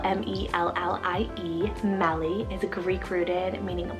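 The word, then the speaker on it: Mellie: feel super sweet we have melee spell m-e-l-l-i-e melly is a greek rooted meaning black and dark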